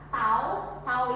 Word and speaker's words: tau: Tau itu momen gaya, bacanya tau kayak T seperti ini, bacanya tau atau momen gaya atau torsi sama saja.